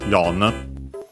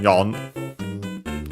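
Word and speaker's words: よん: So the strictly Japanese one, yon. Again, she usually is avoided, sometimes still used, but even on its own, but mostly in certain numeral plus counter combinations or compounds. But yeah, the strictly Japanese pronunciation, yon.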